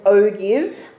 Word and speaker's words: ogive: cumulative frequency histogram and O give o give if you want to write a note in there well some people say ogive um I don't mind either way you pronounce it this is another name